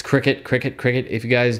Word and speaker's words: Cricket: i go yes it is supposed to be pronounced qriket apparently not cry-cut which makes sense i didn't know that before